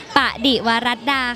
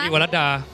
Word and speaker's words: ปดิวรัดา: สวัสดี ค่ะ ปดิวรัดา นะ คะ อ่าน ว่า ปดิวรัดา แปล ว่า ภรรยา ผู้ ซื่อ สัตย์ ต่อ สามี ค่ะ ปดิวรัดา ค่ะ พี่ เกรส คะ ละคร น้อง อ่าน ว่า อะไร คะ ปดิวรัดา ช้า ๆ ค่ะ ปดิวรัดา ดู ปาก พี่ เกส